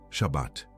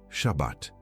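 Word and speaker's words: שבת: Em hebraico, Shabat. Pronuncie comigo Shabat. Duas sílabas, curta, densa, com o peso de decreto gravado em cada consoante.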